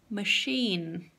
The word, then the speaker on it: machine: And máquina, machine, machine, like a shh in the library.